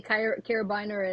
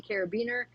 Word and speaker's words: carabiner: Uh some the the British say carabiner and we say carabiner.